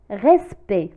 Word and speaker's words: respect: respect respect respect أو le respect الاحترام. circonspect circonspect circonspect لا ننطق لا لتر الحروف CT في آخر كلمة.